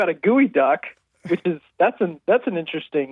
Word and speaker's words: geoduck: What is a gooey duck? It's a burrowing clam. Fair enough. It's disgusting if you search it, for sure. Really? It's also spelled Geoduck, like geoduck, but pronounced gooey duck.